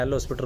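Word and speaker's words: L'Hôpital: लोपिटल rule कह रहे हैं। एल हॉस्पिटल रूल नहीं कहते। चलो जो इनका सिस्टम है चाहे आप एल हॉस्पिटल कह लोपिटल कह लो वही भी बात सही है। h भी साइलेंट है और एस भी साइलेंट है।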